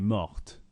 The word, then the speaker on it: morte: Now it's pronounced mort, but in the feminine you need to add an E, and when you add a vowel to the end, that means you say the last consonant. Elle est morte.